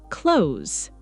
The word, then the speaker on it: clothes: Clothe the many learners pronounce two clear syllables, but native speakers usually shorten it. It sounds almost like clothes.